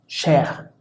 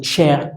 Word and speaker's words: cher: Luego, la letra C en combinación con la letra H en general se va a pronunciar como la combinación SH, es decir, se va a pronunciar sh, como por ejemplo, no sé, en la palabra cher. Si decimos cher, podríamos entender caro o querido, pero entonces suena sh, cher.